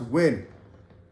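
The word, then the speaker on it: Nguyen: Gwen you know like American spelling Nugent but I mean it's pronounced wind um phone win and I look at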